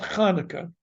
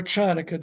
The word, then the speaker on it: Hanukkah: We're going to talk about Hanukkah, or Chanukkah, depending upon your pronunciation.